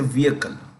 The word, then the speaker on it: vehicle: the vehicle the HED in vehicle is silent so we say vehicle so the you know